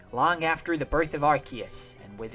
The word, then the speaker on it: Arceus: I used to think it was Arceus, but also Arceus makes sense because Arc and Deus, which is like the phonetic way that the name is spelt, so I'm gonna go with Arceus.